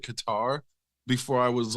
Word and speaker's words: Qatar: ways to pronounce it cutter is like or Cutter that doesn't I don't know why any American would look at that word and pronounce it that way like even if I didn't know how to properly pronounce it I was always pronouncing it Qatar before I was like